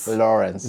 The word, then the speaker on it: Lawrence: Lawrence, did I pronounce that very well? Lawrence.